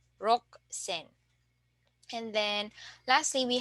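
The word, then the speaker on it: 六千: we say San Zen and then for 6,000 you can uh notice that it's underlined here so the spelling is the same but uh instead of uh pronouncing it rusen we will Dev vocalize the U or we don't need to pronounce the U and we can just say rock sen and and then lastly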